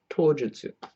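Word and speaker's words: 刀術: Or together, because you're looking at onyomi pronunciation, it'd be tojutsu.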